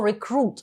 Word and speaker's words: recruit: Зверніть увагу на слово recruit. Воно вимовляється з наголосом на другий склад.